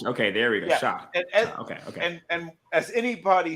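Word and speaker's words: Shough: Slo uh, they how do I pronounce that? Uh, Bill Tyler Shock.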